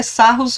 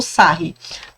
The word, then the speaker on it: Sarrus: Eu nunca soube, na verdade, se a pronúncia correta é Sarrus ou Sarri, tá?